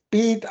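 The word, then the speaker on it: בית: Im Hebräischen heißt es Bet. Bet ausgesprochen. Und schau mit dem Symbolsystem, wenn ich weiß, dass das in mir heißt, Bi, in mir ist eine Erscheinung.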